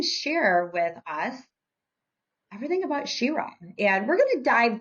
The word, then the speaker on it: Sherah: So they'll mispronounce it and be like Sherah. And I'm like, Sherah? No, Sherah. She, like she, yes. Her is at the forefront and is the most important thing in supporting women and women supporting women.